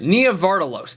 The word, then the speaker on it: Nia Vardalos: movie is directed by Nia vardalos is that how you pronounce her name Nia vardalos nardos isn't that how you say it Nia Vos all right Nia vardalos that's how you do it this movie is